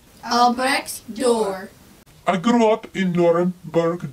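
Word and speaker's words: Albrecht Dürer: welcome Obrecht door guten morgen my name is Obrecht door can you say my name Obrecht door Albert's door I grew up in Nuremberg Germany during the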